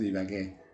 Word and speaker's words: Ibagué: It's actually pronounced Ibagué in Spanish, Villavicencio, and Bucaramanga.